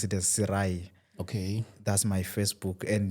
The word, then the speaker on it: Sirayi: You can pronounce it as Sirai.